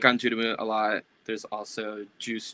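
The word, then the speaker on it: ANGERME: So there's one called Anjurumu, like they're the kanji, or I mean the hiragana pronunciation would be like Anjurumu, but in English it looks like anger me. Hmm. But I like Anjurumu a lot.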